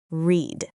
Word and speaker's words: read: And everyone, notice the verb read. The spelling stays the same, but the pronunciation changes between present and past tense. That's right. Today I read a book, and yesterday I read a book.